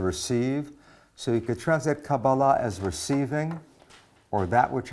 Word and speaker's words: Kabbalah: Kabbalah or sometimes pronounced Kabbalah either way is really okay I prefer putting the accent on the last syllable which is how modern Hebrews usually treats words so Kabbalah Kabbalah comes from a